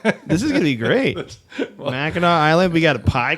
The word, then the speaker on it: Mackinac: I Googling believe it's things right pronounced now. differently, but I think it's called Mackinac. Mackinac.